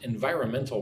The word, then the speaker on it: environmental: However, it has also caused some environmental problems. Nice long word there. Look at that word. Environmental. So 5 syllables.